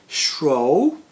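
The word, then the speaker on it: Shuo: changed the pronunciation because my given name spells so shro makes more sense in English in fact I've been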